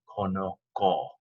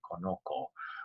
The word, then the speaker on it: conozco: to the fact that this C that sounds like an S, conocer, would become conozco, or a hard C sound like a K, conozco, which is not, it doesn't match the infinitive. It doesn't sound like the verb that it's supposed to be, so it makes the Z conozco.